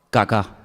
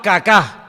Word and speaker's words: Kaká: muy feo, se llamaba Kaká. Menos mal que tenía el acento ahí. Si llega a tener el acento en otro lado, peor todavía. Se llamaba Kaká.